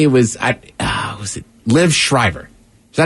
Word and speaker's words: Schreiber: And you see, and I want to say it was, was it Liv Schreiber? Is that how you say his name? Schreiber, I believe.